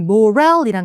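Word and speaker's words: morale: 그다음에요 단어는 morel이란 단어가 있어요. 자, 이것도 발음은 강세 뒤에 이렇게 읽으시면 되겠고 회사에서 되게 중요한 거죠.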